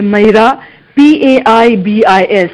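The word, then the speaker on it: Meira Paibis: Bina, can you spell that? Yeah, it's MEIRA, Maira, PAIBIS, Maira Paibis.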